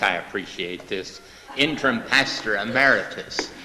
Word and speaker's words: emeritus: appreciate this interim pastor ameritus I used to always uh pronounce that amortis I thought it was something like arthitis and after I did